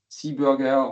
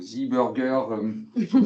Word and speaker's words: Seeburger: have from our partner Zebra or Seabburger or Zerger depending for where where you come from and how you like to pronounce it.